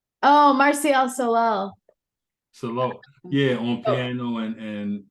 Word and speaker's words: Solal: that you had with if I get the name wrong, excuse me, but Francois Moutin. Yes, perfect. And Martial Salac. Oh, Martial Solal.